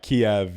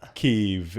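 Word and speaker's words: Kyiv: who don't know uh Kiev is the Russian pronunciation and spelling keev is the Ukrainian K IE V then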